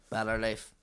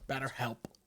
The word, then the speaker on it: BetterHelp: Better Life. They have it. It's like a manual. BetterHelp.